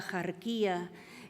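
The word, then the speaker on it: Axarquía: modo antiguo, pero que es bárbaro pronunciar con el sonido de la X actual, porque en lo antiguo esa X se pronunciaba como J.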